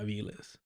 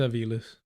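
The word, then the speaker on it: Avilés: I'll tell you how it's pronounced. Let me see here. Oh, yeah, Aviles. For sure, for sure. ¿Dónde es? Where's her family from? Oh, wow. Yeah. It's Aviles.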